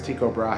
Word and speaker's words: Tycho Brahe: is pretty great I think Tico because I think it's Tico brah hey that's how you pronounce the astronomers name but it could be Tycho Brahe he I feel like Tico sounds more correct anyway 86 km/h 14,500